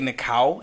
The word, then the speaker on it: Nikao: All right, so where is so you know, I keep wanting to say Nikao. That's fine, it's just instinctually. Because that's the right pronunciation.